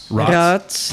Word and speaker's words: Rots: I think Rots. Am I pronouncing that? Rots, yes.